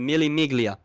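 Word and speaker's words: Mille Miglia: iconic mil Mig Miga I forgot how to pronounce it Miga Mig it's Italian yeah oh Italian that's it the Milly miglia the mil Mig do you have a clip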